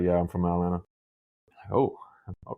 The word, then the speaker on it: Atlanta: You ever notice when people say Atlanta, it's like Toronto, they don't pronounce the second T really? They like, "Yeah, I'm from Atlanta.